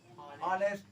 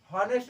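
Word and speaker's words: honest: बिल्कुल गलत सोच रहे हैं आप, सोच रहे हैं ना गलत, क्योंकि एच यहाँ पर साइलेंट है। पढ़ा क्या जाता है इसको? ऑनेस्ट। हॉनेस्ट नहीं पढ़ा जाता, क्या पढ़ा जाता है?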